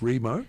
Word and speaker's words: WREMO: WREMO, pronounced Remo, because it's a silent W, folks.